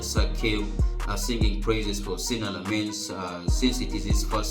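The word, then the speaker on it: Lammens: And you see that another outstanding performance came from Sina Lamens, rather, that is how it is pronounced, Sina Lamens.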